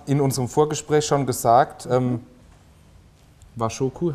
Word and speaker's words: Washoku: Und Sie haben in unserem Vorgespräch schon gesagt, Washoku, habe ich das richtig ausgesprochen? Genau, Washoku.